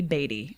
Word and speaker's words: Beattie: today let's do it we're talking about the Bey mansion and how do they actually pronounce it it's the batty Mansion but that's ridiculous I don't like that